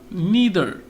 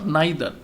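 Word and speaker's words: neither: নিদার অর নাইদার, দুইটা উচ্চারণই হয়, নিদার হচ্ছে আমেরিকান, নাইদার হচ্ছে ব্রিটিশ।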